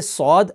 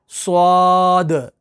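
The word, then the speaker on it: صاد: अब यहां पर गलती क्या होती है कि अक्सर पढ़ते हैं स्वाद, स्वाद, बीच में वाव प्रोनाउंस करते हैं। तो आप देखिए, इसके अंदर वाव नहीं है, सौद, अलिफ और दाल के साथ है, सौद।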